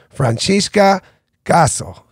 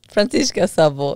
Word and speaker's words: Franciska Szabo: She's from Hungary, and I want to try to pronounce it the best way possible. Francesca Szabo. Francesca Szabo. Szabo. Francesca Szabo, and that's S-Z.